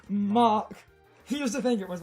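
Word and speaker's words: Mach: incredibly useful defense curl ha ha i say mac punch because it's but it's pronounced mock here's the thing it was like match oh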